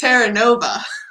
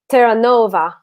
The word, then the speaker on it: Terranova: Yeah, that's the English way of saying it. In French, it would be Terranova. So the accent, doesn't go on the same syllable. And then, but it's an Italian name, so technically it's pronounced Terranova.